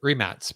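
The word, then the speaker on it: Rimac: tell me you're right Bud Tara says Dom pronounce it remats because it's not Remax that's true in uh in croatians well that's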